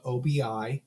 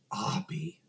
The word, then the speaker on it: Obi: His name is spelled Obi. Xavier says, "What the fuck's an Obi?" And he goes, "Abi." 2 syllables, Abi.